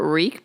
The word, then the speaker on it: wreak: It's spelled WREAK, reek. Oh, is it wreak havoc? Wreaking havoc. Can we get the little guy on the thing to pronounce it? I know. I like him. Pull it up real quick. Reek. Okay, hold on. Wreak havoc on the So wreak havoc. Okay, now I know how to say it.